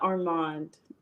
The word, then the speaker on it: Armand: great so tell tell tell the people what your name is because I don't want to mess it up I am horrible at pronouncing names hello my name is Armand okay now y'all heard it I'mma try to say Armand I say it right I got it right on the first look